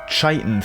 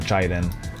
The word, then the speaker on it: chitin: So to fix that, there's these sort of chitin things. Is that how you pronounce that? Siri, how do you pronounce chitin? It's on the web for how do you pronounce chiton. Check it out. It's not Chadon, bro.